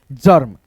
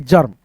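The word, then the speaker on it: germ: जैसे यहां पे जी ई आर में है तो यहां पे हो जाएगा जर्म। है ना दोस्तों? गर्म नहीं जर्म।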